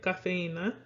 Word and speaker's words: cafeína: So when you break it up in syllables, you end up with ca, fe, in, na. While this does follow the natural stress rule, this I is by itself, but it also wants to be broken up away from that E.